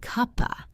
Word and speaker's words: cup of: It sounds like cupa. If you are looking for the word of, you won't find it. It has disappeared into the rhythm of the sentence.